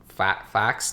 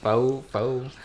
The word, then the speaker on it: faux: I say it as a fax defensive. Faux. There's an X there. Yeah, but that's how you pronounce, like say faux fur.